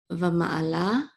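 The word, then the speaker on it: וָמַעְלָה: ma and this is a lamed with a kamat and a hey together. It says la. Va ma'ala. Okay, very quickly, this ayin is very quick.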